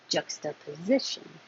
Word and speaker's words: juxtaposition: Juxtaposition. Juck. Hold that K. I should put a little mark there because you don't say jucka. Just hold the K, tongue in the K position.